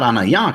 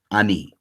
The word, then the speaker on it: ani: It's not anaya, clearly. Now, again, we get the same kind of situation. Greek could have easily produced it. Greek could have written anaya, right? Just alpha, nu, alpha, iota, alpha. Could have given you anaya, but instead they put alpha, nu, iota, ani.